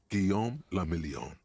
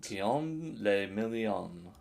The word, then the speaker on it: Guillaume le Million: Guillaume le Million. If it doesn't rhyme, you're not pronouncing it right. Guillaume le Million.